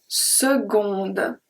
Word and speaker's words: seconde: We have very specific words when the C is pronounced like a G. My G, not your G. This G. So we have une seconde. Seconde. We don't say une seconde, compte.